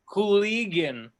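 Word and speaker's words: Kulygin: Cooligan.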